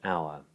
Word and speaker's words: hour: Although be mindful because there are some written H's that are not pronounced, as in honest and hour.